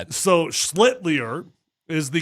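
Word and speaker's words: Schlittler: So, Slitier is the correct way to say it.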